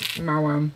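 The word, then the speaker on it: Maoam: I think I had the Mawam. M-A-O-A-M. Mawam. I had that. I'm confused as to how he pronounces haul now.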